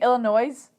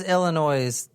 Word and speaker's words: Illinois: place excuse me Illinois whato Illinois Illinois no Illinois Illinois Jen you don't pronounce the S at the end all right my mom's